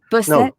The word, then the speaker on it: Busset: Busset.